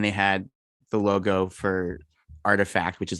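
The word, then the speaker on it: RTFKT: check it out more that's artifact spelled the hipster way without any vowels it's capital r t f k t yeah you might i remember some people were like okay how do you say this it's like artifact okay so yeah um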